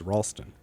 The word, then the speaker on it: Ralston: your name it's okay sometimes people mispronounce the first syllable of my last name what did they say Ralston it's Ralston but what if they're